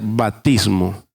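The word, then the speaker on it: βαπτισμός: Porque la palabra bautismo, la palabra bautismo viene de una palabra griega que se pronuncia batismo y significa anegar, sumergir, sepultar.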